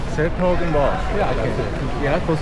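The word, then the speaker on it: 's-Hertogenbosch: I've been wondering how to pronounce that. s-Hertogenbosch. s-Hertogenbosch.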